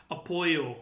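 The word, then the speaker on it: Apolo: do you mean You mean like Oh, yeah, I I forget it's pronounced differently in Mexican in Spanish, "Apolyo."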